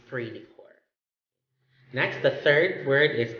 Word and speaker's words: esprit de corps: is pre, it's because the letter S in the third word, core, is silent. So it's not assigned the sounds. It's pre de core.